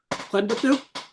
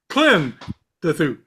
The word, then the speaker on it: Klendathu: KLENdathu. There you go. KLENdathu. KLENdathu. Well, no, I've always been doing the Klen part. It's the dath. I've always said KLENdathu.